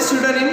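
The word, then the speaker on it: pseudonym: What is स्यूडोनिम? P silent है.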